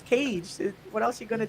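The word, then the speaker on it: Kage: legend of cage because it's pronounced cage not cocky i've been saying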